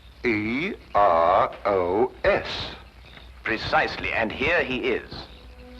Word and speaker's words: Eros: A slight confusion on the lady's part. Probably the influence of Cockney stagehands. She added an H where there shouldn't have been one.